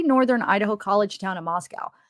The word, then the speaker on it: Moscow: Idaho College Town in Moscow pronounced not like the Russian Capital but to rhyme with Costco the locals with no